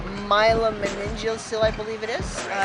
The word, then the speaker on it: myelomeningocele: i have is really a difficult one to pronounce myelomeningocele i believe it is it's basically my spinal